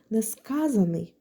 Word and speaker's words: несказаний: У нас є слово несказанний, де наголос падає на літеру А, тобто на суфікс ан є наголошеним. Відповідно у нас відбувається подвоєння. А ось якщо ми змінимо це слово на дієприкметник несказаний, то ось тут наголос змінюється. Наупадає на другий склад. А отже, суфікс ан вже не наголошений, тому в нас і не відбувається подвоєння.